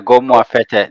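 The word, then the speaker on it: Gomoa Fetteh: He said, "Is it Goma Feta? Is that how you pronounce it?" Yeah, go more fete.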